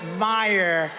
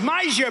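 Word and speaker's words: Meijer: of the ten impeachers a guy who spells his name m-e-i-j-e-r but they pronounce it meyer the hell kind of a spelling is that meyer it's major but it's actually pronounced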